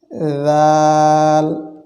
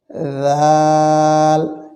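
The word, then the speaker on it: ذال: দুইটি হরফ উচ্চারিত হয় সেগুলো জিহ্বার আগা সামনের উপরে দুইটার আগার সঙ্গে লাগিয়ে নরম দুর্বল আওয়াজে সেগুলোই হচ্ছে জাল জাল জিহব্বার আগা থেকেই এটি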